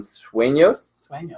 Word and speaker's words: Sueños: Is he's the owner of Conscious Leverage and Sueños LLC. Now, I know Sueños in Spanish, but spelled not the way it's spelled that we have it, but maybe it's spelled Suenos.